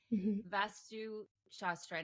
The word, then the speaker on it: vastu shastra: fascinating and I had never heard about before vastu shastra now I'm saying that correctly yes you're saying